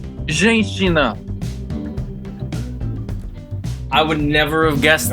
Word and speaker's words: Женщина: It is woman in Russian, but you want to know how that's pronounced? How? Женщина.